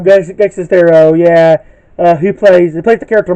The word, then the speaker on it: Greg Sestero: He did a really funny review of it, and Greg, I can't pronounce his last name. Greg Sestero. Greg Sestero, yeah, who plays the character Mark, one of the main characters in the movie.